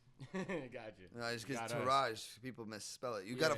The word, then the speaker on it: Tourage: No, just because Tourage, people misspell it. You got to follow the page. The enlightened entourage, Tourage. Tourage. Right? Tour and Rage, but the R is just one.